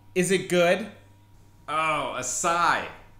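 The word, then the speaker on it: açaí: yeah how's your okay I'm sorry what you're a cable is it good oh acai acai Bowl it's actually really good can I get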